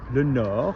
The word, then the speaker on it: nord: A compass in French is N-E-S-O, because you've got le nord, you don't pronounce the D, l'est, you join it